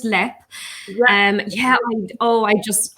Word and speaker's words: Leap: pictures of the the castle and we put mispronounced as leap but it's pronounced yeah it's actually pronounced let